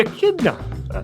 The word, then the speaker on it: echidna: the Platypus and the and chidna is that what how do you say it and the Echidna Echidna not you never know what